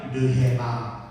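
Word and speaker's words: ῥῆμα: 르헤마. 다시 한번 따라하세요. 르헤마. 왜냐하면 늘 애가 이 거친 순표가 있기 때문에 이건 해 발음이 나요.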